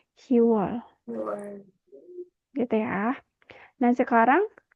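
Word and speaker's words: 시월: Tapi untuk khusus untuk Juni dan Oktober, biopnya dihilangkan menjadi Siwol untuk pelafalannya. Dan untuk bulan Oktober bukan Shibwol tapi Siwol.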